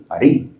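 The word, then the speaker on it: ארי: Ellos no pronuncian la R, Ari.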